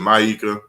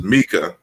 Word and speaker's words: Mika: I know I usually pronounce it Maika, but I think you informed me that it's Mika.